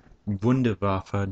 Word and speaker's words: Wunderwaffe: but some people have been wondering about my wind abhava dg2 as it should be pronounced I mispronounced my other video I'm sorry